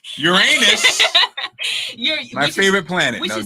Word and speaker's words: Uranus: so I see your Uranus, yes, I'm not gonna say it like that. Uranus.